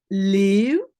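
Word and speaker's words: Leeuw: Donc, on prononce Léeu, hein, comme un long E, et pas le.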